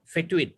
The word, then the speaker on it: fetuin: is the protein called fetuin how do you pronounce it that that hocine fetuin fetuin which sa was was you on both